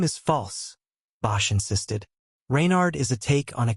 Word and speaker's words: Reynard: Reynard is a take on a character from medieval folklore known as Reynard the Fox. It's spelled with an E but it's pronounced the same.